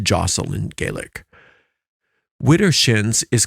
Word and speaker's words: deosil: direction is known as deosil in witchcraft it's pronounced Josel in gelic Witter shins is commonly the word